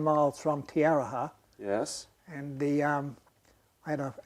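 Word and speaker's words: Te Aroha: In a little town, or in Tiaraha. Could you spell it?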